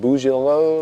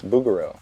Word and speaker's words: Bouguereau: with names I finally learned how to say Bouguereau though instead of bougie low like a French person it's Bouguereau a French girl told me that so I like this